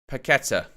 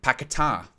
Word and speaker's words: Paquetá: Paqueta. Or Paquetá. Excuse me. Our pronunciation's important.